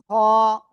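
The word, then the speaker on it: ح: এই অক্ষরের নাম কি, হ। এই অক্ষরের নাম কি বললাম, হ। গলার শেষ ভাগ থেকে অক্ষরটা উচ্চারণ হবে, মোটা আওয়াজে উচ্চারণ করতে হবে, ওয়ানলি এক লিপ টান হবে।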